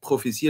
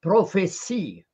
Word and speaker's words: prophétie: de scorie lui la prophétie elle venait telle quelle donc alors Gabriel Gabriel juste le problème de prononciation et toi tu dis prophéti mais en fait c'est en français on dit prophétie oui j'ai dit prophétique